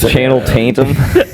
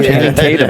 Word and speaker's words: Channing Tatum: Who's Channing Tatum? Channel Tatum. Oh, did I fuck up the name? No, Channing Tatum.